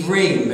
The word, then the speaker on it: Ivrim: And one who is a Hebrew is pronounced in Hebrew, Ivri. Everybody say Ivri. Ivri. And plural would be Ivrim.